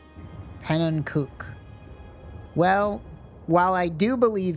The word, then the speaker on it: Pannenkoek: It's Dutch for pancake. It's pronounced pannenkoek.